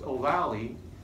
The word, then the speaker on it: ovale: nerve is going to exit foramen ovale pronounced Ovalle spell avail your sensory